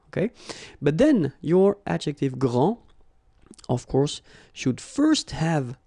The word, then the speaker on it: grand: you don't pronounce the final D, you don't the D here, and you don't pronounce the final S. Okay, so grand, and then same thing here, grand.